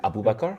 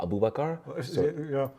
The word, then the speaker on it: Abu Bakar: a pleasure yeah uh my name is Abu Abu bakar but I go by a it tend to be easier especially for uh English people they can't pronounce the four Abu bakar Abu bakar exactly it's easy right yeah but